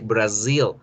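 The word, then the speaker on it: Brazil: s en español brasil en inglés con z por lo tanto debo generar ese sonido lasser brasil rio brasil con estas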